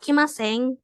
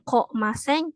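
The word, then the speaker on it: 来ません: Tapi kalau misalkan yang mas negatif itu tetap dibacanya ki maseng ya, bukan ko maseng, ki maseng.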